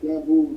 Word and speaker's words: 6AMBU: My actual way I spell my name is Bamboo. The way you hear it sounds like a B. But it's spelled 6AMBU.